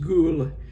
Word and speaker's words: Gol: area of Norway called ghoul gol I only pronounce it ghoul because I had a student in class years ago in this very course who was from Norway and she said it's pronounced ghoul and she said that area of Norway is